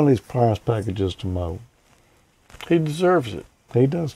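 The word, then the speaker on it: Meaux: Apparently, you must pronounce it Mo. Yeah. It must be French. It ends with an X. Yeah. Or it could be M-E-A-U-X.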